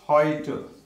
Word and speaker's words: heute: EU is pronounced as OI, just like in boy. For example, heute. So it is OI, OI sound, heute, heute. Or another word is loiter, loiter.